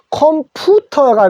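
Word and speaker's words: computer: 근데 영어는 우도 되지만 유도 돼요. 그래서 컴퓨터. 그래서 우리는 컴퓨터라고 하는데 콤이 아니고 어로 읽어 주십시오.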